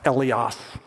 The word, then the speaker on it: eleos: And by far, the most common one is this top word, and that's pronounced eleos.